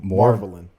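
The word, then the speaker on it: Marvalyn: the girl is named Marvelin. Like marvelous, Marvelin. It's spelled like a Elder Scrolls vampire.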